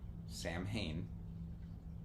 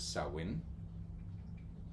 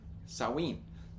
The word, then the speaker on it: Samhain: for a brief moment it's not Sam Hayne no the most prominent and most um used pronunciations of it is sawin like a sa s so and in in sawin or saen and they can be